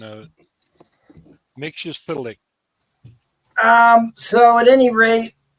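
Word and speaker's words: Mxyzptlk: look at the old Action Comics where it pronounces it for you one time here's what it is Nick sillick no I'll show you how mix and p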